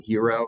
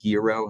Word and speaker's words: gyro: That actually, the one that's been the most popular through testing is a lamb hero or lamb gyro, however you want to pronounce it, style sausage, lamb and beef.